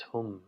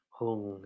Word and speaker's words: hum: The syllable for this Vajra is hum, H-U-M. Some might pronounce it hung, H-U-N-G. Either way.